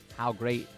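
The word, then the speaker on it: Howe Great: Derby winner Sunday silenced how great is spelled h o w e now for the hockey player Gordie Howe and how great you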